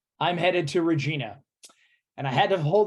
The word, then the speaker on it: Regina: But it is pronounced Regina.